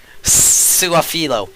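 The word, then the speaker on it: Su'a-Filo: Suafilo.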